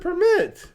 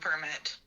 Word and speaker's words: permit: She said permit. No, she didn't. Your virginity or a driving permit? Permit. Permit. No! Emphasis on the wrong syllable.